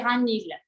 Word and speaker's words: Ragnhild: Et en norvégien, ça se prononce Ragnhild. En français, c'est à peu près Ragnhild, ça passe.